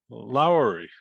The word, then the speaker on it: Lowery: to me one of the great names lowry am i pronouncing it right you are that's right okay